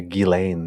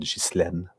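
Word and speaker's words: Ghislaine: goes by gilain Maxwell even though her name is spelled Jen in French we would say Jen but gillain Maxwell is that what she goes by uh yeah it would say jlen as well but they say gilain yeah g um so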